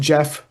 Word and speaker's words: Gef: Now Jeff is spelled Gef in this very particularly, but it's pronounced Jeff as in we're Jeffrey, Okay.